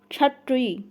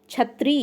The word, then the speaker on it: क्षत्रिय: क्षत्रिय। क्या है? क्षत्रिय। जब आप कंठ और मूर्धन्य मिला के बोलते हैं तो इसको क्षत्रिय बोलते हैं, क्षत्रिय।